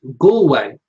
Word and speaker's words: Galway: Jamie says it's pronounced Galway.